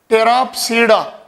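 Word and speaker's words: Pteropsida: और fourth one है, इसमें भी पी साइलेंट है, टेराप्सीडा।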